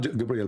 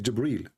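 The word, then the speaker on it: جبريل: It's not Gabriel, by the way, it's Jibreel.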